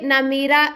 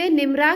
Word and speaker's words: نمرہ: اہم ترین مقام مسجد نمیرہ کی سیر کراؤں گی۔ کچھ لوگ اسے مسجد نمرہ کہہ کر پکارتے ہیں، جبکہ اس کا صحیح تلفظ نون کے زبر اور میم کے زیر کے ساتھ کیا جاتا ہے۔ نمیرہ ایک پہاڑی